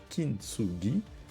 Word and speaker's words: Kintsugi: Le Kintsugi, prononcé approximativement Kintsugi, est un art japonais utilisé pour réparer les objets en céramique cassés, comme des bols, des tasses ou des vases.